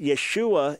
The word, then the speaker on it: Yeshua: Jesus both of which would reflect the the yay sound not the yah sound so we know without any question that it was not yah we also know that Yeshua is short for yehoshua